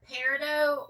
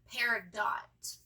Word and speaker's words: peridot: of that shade, and it's saying that it could be either Peridot or Peridot. People use varying versions. So I'm going to call it Peridot because that sounds more like a word I